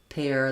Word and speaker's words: pear: For example, just thinking about pear, we also have pear that you eat, spelled like ear but pronounced like air.